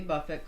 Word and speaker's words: Buffett: Kind of like bucket versus bouquet. It's bouquet. So yeah, it's Jimmy Buffet, not Jimmy Buffett.